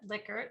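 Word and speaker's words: Likert: liquor scale i heard i learned that that liquor is how you pronounce that we had a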